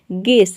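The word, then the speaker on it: guess: गेस में आप देख रहे हैं यू के बाद ई आ रहा है, तो यहाँ पे ई यू जो है साइलेंट है, केवल जी ई डबल एस को हम प्रोनाउंस करते हैं गेस।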